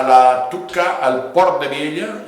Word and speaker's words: Vielha: o la localidad de Viella se escribe con L y H, esa LH que suena elle. Como una característica propia del aranés, porque a veces que hay gente que dice Biela, no es Biela, es Viella.